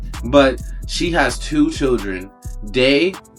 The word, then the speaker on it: Dei: Day, which is spelled out D EI, who's played by Sydney Park, and Brad, who's played by Greg Wayne.